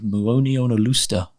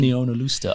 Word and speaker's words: Muonionalusta: And then this dial, then it's a slice of the 4.5 billion year old Muonionalusta meteorite. That was exemplary pronunciation. Muonionalusta.